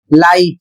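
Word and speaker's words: light: अगला शब्द है एल आई जी एच टी और इसका उच्चारण होता है लाइट।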